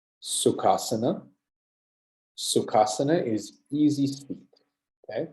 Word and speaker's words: Sukhasana: So listen to my pronunciation. Sukhasana, Sukhasana.